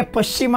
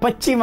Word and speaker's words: ಪಶ್ಚಿಮ: ಸರ್, ಕೆಲವರಿಗೆ ಪಶ್ಚಿಮ ಅಂತ ಹೇಳಕ್ ಬರಲ್ಲ, ಪಶ್ಚಿಮ ಅಂತಾರೆ. ಪಶ್ಚಿಮ ಎಷ್ಟು ನಾವು ಅದನ್ನ ತಿದ್ದಿಕೋಬೇಕು. ಆಮೇಲೆ ಆಶೀರ್ವಾದ ಅಂತ ನೀವು ಬರೀರಿ, ಆಶೀರ್ವಾದ ಅಂತಾರೆ ಅದು, ಕೆಲವರು ಶಕಾರ ಉಚ್ಚಾರಣೆ ಬರೋದಿಲ್ಲ.